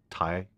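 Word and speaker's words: Taye: He's an endorser of Thai. Did I say it right? Thai drums. Yeah. Yep, Thai drums.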